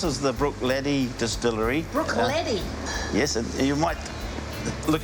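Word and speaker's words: Bruichladdich: Brook Laddie. Yes, and you might look at the word and say Brook Laddich, but when you pronounce it the Gaelic way,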